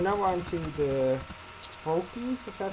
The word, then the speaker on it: Froakie: But now we're on to the Froakie? Is that how it's pronounced? Froakie, yes.